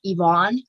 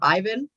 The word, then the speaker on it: Ivan: worry about mispronouncing things, because whenever I was reading, I always pronounced it Yvonne instead of Ivan.